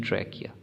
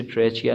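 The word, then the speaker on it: trachea: कहाँ पर कार्टिलेज का फंक्शन, इन ट्रैकिया। ट्रैकिया इसको पढ़ेंगे CH की वजह से ट्रैचिया नहीं, इसको आपने प्रोनाउंस कर देना, साथ में आप लिख लें उसको भी।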